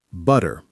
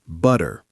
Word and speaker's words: butter: Butter, American, butter. British, butter. Forever, American, forever. You can really hear that final R.